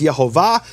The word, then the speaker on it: Yehovah: But he received this as a tradition that the true pronunciation of the name is Yhovah.